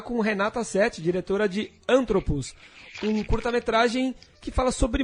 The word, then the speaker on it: Anthropos: Antropos. A pronúncia certa, Antropos.